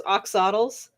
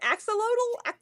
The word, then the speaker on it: axolotl: Um, so like there's a those, I'm gonna mispronounce this horribly, like those oxodals, those like weird salamanders.